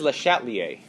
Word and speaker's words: Le Chatelier: close his name is les chatelier's all right and let's shout Li a sounds like this because a lot of times French words that start with ch are pronounced SH right so like Chateau